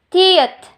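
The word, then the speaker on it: 티읕: When I say aspirated, you have to produce more air para ma-pronounce natin siya na maayos.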